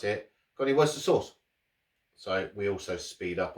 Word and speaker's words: Worcestershire: worcester so you know it does say shire on the end but i guess where